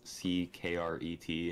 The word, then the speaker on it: Ckret: Like my name starts with a C, so that's the main reason it's spelled Ckret instead of just the normal spelling.